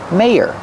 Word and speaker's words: mayor: in Day May here the second syllable is the ER sound like burger and we have to link these two sounds with like in yes and yellow together May ear mayor the mayor's office is